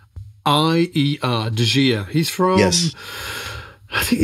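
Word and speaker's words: De Gier: I always say Dajir, it's spelled D-E. Space, G-I-E-R, Dajir.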